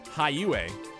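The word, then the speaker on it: Heiyue: compared to that high u is pronounced high ua high ua all right how you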